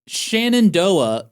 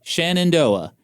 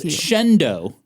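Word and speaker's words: Shenandoah: Oh, Shannondoa. Okay, you know what? And they pronounce it as Shendo. They're wrong.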